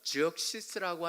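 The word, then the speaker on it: Xerxes: 아하수에르라고 하는, 그래서 우리는 크세르크세스라고도 하고, 영어로 하면 그 X가 z라고 해서 지역시스라고 하는 발음이 나오는 그 왕이 바로 여기에 나오는 에스더의 배경이 되는 왕입니다.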